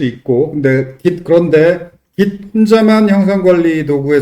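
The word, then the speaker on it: Git: 근데 깃데 깃 혼자만 형상 관리 도구에 쓸 수는 없고 깃업과 결합해야죠. 그 지이 아니고 깃이라고 읽어야죠.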